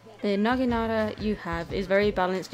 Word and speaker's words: naginata: the naginata yeah they said it right there naginata you have is very balanced in terms of